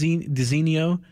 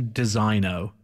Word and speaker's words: designo: it's it's you would think it would be pronounced dis diso but it's actually designo it's when I ask yes it feels like